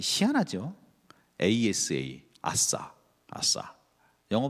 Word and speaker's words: 아사: ASA, 아사, 아사. 영어 발음이에요.